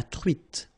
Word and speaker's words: truite: O-N in your nose, nasal, on, espadon, la truite, same thing here, final E not pronounced, t, la truite, le maquereau.